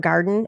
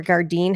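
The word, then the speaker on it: Gardyn: a huge fan of garden or gardein however you want to pronounce that g-a-r-d-y-n because it has cameras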